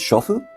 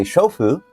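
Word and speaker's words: 娼婦: Another thing my teacher told me is the word for housewife is I think it's shofu.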